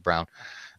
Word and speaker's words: Braun: He spells it Braun, German style, but I think he pronounces it Brown.